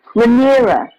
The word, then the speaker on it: Rhaenyra: Rhaenyra.